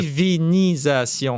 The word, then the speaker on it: divinisation: Donc, si on tape sur Google, il faut bien écrire. Divinisation. Toutes les syllabes sont importantes.